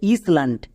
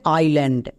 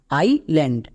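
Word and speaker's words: island: এই ওয়ার্ডটাকে অনেকেই ভুল উচ্চারণ করছো যে ইসল্যান্ড। ইসল্যান্ড বলে কোন ওয়ার্ড হয় না। এর উচ্চারণটা হবে আইল্যান্ড। আইল্যান্ড।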